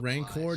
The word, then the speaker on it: Rancor: We think these cultists were planning on releasing that mutated ranker into the city and using the ensuing. Um, Kyle, it's pronounced Rancor, not Ranker.